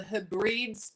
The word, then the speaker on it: Hebrides: Well, no, it wasn't a live stream, it was content I created on, I don't say it right, the Hebrides.